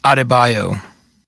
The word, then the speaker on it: Adebayo: that's why because it's a bunch of it's pronounced adebayo bam adebayo are you talking to me we're